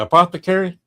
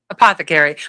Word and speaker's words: apothecary: walks in the apo, how do you pronounce it? Apothecary. Apothecary. My husband remembered it by a pot to carry.